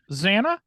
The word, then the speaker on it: Zannah: pronunciation are we gonna go with I say Zanna Zanna okay that's what we'll do all right it's it's pronounced Zanna just adding in George Lucas been broke down